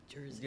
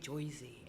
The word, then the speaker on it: Jersey: to be pronounced, but I said it's Jersey with a Z. Jersey. Yeah, I'd agree with that. Wait, what do people say that's not Jersey? They say Joyzy. Joyzy.